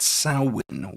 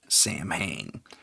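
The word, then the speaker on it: Samhain: Um with the festival of as they traditionally pronounced it, Sin, we call it Sam Hayne because we're illiterate too when we have to say Irish words, Celtic words specifically.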